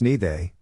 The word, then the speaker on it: Niger: Pronounce Nide, of course.